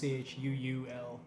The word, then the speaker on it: chuul: slash his throat and roll away from the chul. Yeah, nice. Yeah. Shoo. Maybe that is how it's pronounced. Oh, is it like CHUL? It is CHUUL.